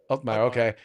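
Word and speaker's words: Uthmeier: As Breitbart News reported, Florida Attorney General James, how do you pronounce that name? Is it Ulfmeyer? Mike? Ulfmeyer, okay.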